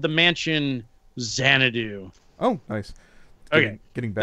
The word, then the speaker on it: Xanadu: Xanadu.